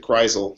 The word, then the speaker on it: Kreisel: Yeah, I pronounce it Kreisel, so just Kreisel is fine.